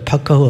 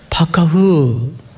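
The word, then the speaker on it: פקח: 파카흐 한번 따라서 해보십시다. 파카흐. 겨울에 입는 파카 뭐 그 정도로 이해를 하면 발음이 같아요.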